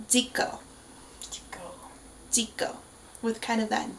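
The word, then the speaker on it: Zico: videos you know that there is no Z in the Korean language so his name is pronounced Dio Dio with kind of that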